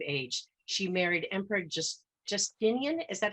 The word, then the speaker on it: Justinian: 28 years of age she married Emperor just Justinian is that how you pronounce it James gostumian yes hey Justinian the first and she evolved into one of